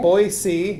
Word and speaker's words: Boise: Boise. Yeah, there's no Z. No Yeah, Z. That's right. No Z.